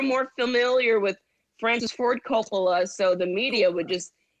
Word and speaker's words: Coppola: Coppola. Yeah. No, well, how did you pronounce it?